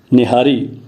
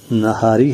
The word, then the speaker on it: نہاری: معلوم ہوتا ہے، اور وہ کہتے ہیں کہ ٹھیک تلفظ جو ہے وہ ہے نہار اور نہاری، لیکن ہمارے ہاں اب یہ غلط العام یا غلط العوام ہو گیا ہے، نہاری۔ چلیں، نہاری ہو